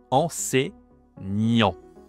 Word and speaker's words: enseignant: Allez, donc attention ici, prononciation aussi, hein, en, C, hein, E-I, C, E, enseignant. Donc là, on a la nasale en, enseignant.